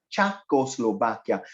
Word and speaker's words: Czechoslovakia: he moved her mouth it's pronounced as chako slovakia that's why you have